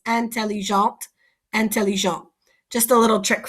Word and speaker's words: intelligent: So T is the last letter here, intelligent, and I don't pronounce that T. But when I have intelligent, I have a vowel here, so I pronounce the T.